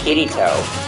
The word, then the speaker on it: Kirito: Actually, it is pronounced Kirito.